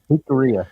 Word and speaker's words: Jicarilla: Jicarilla, yeah. What they said. Just pronounce the J like an H, and then it's pretty much common.